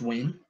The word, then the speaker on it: Nguyen: They destroyed some teachers say Nguyen, Nguyen, and now the kid think that's how you pronounce it. But in Vietnamese, it's Ha Win, it's Win, but it's with a tone, right?